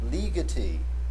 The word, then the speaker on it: Ligeti: The surname of this composer, however, is pronounced Ligeti with the accent on the first syllable.